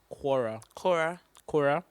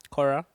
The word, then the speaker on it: Quora: So the question is from, please, how do you pronounce it? Quora? Cora. Yeah. Cora.